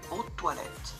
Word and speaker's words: eau de toilette: Ini sebenarnya eau de toilet ya, tadi bacanya gimana ya? Eau de toilette.